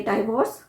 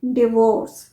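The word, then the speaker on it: divorce: नहीं जा रहे पर इसे प्रोनाउंस कैसे करेंगे डाइवोर्स डाइवोर्स नहीं डिवोर्स डिवोर्स इसका प्रोनंसिएशन आप नहीं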